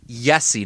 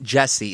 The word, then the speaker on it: Jesse: I just yell Pulu yv at people it's pronounced yesie not Jessie it's Jessie P why you gotta why do